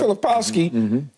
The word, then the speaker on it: Filipowski: what how do you say his name yeah filipowski he look non-athletic to me he looks non-athletic